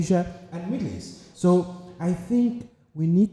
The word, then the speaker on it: EST: Well, my next media platform is called Eastern Standard Time, which is spelled acronym-wise EST, which is also pronounced East.